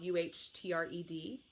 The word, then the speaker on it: Uhtred: It's spelled U-H-T-R-E-D.